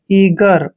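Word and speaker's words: eager: प्रत्येक next word है ई ए जी ई आर ई ए का उच्चारण हमने बड़ी ई की मात्रा करना है और जी को ग पढ़ते हैं ई आर का उच्चारण र करना है ईगर ईगर का मतलब होता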